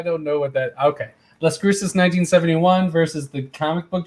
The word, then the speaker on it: Las Cruces: to pronounce properly but i'm going to say escrusis and uh the comic book g-spot oh las cruces yeah that's like a city in new mexico i think oh las